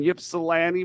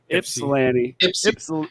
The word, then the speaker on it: Ypsilanti: too taking place at the falling Warehouse in Ypsilanti Michigan Ypsilanti Michigan see I said it wrong Ypsilanti Ypsilanti Michigan that's at uh let's see here